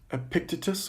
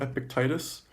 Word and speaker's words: Epictetus: person I'm going to talk about is epic Epictetus or epic Titus that is spelled epi CTE tus so a pic Titus